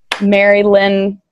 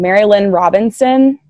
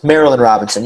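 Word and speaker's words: Marilynne: love the novels of Mary Lynn I always got her name wrong Marilyn Robinson not to be confused with Mary Ann Robinson remember Marilyn Marilyn Marilyn Robinson yeah yeah Marilyn Robinson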